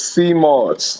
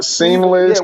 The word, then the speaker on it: sea moss: It's sea moss, not yeah, seamless.